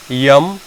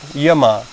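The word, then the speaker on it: यम: So first is Yam. In English people call it Yama, but I will use the authentic Sanskrit terminology or authentic Sanskrit pronunciation, so you will be familiar with that as well. Yam is number 1. Second is Niyam. In English it's called Niyama.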